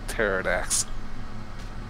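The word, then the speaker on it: Pterrordax: uh kobold something yeah cobalt paradox the P is silent okay cobalt pterodax I still need the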